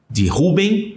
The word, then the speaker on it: Reuven: Tribo de Reuven ou Reuven, que está aí a pronúncia.